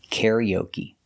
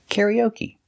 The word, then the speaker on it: karaoke: We put the stress on the first syllable, karaoke, and the third syllable. First and third. Karaoke. Karaoke. So what is the action? You do karaoke?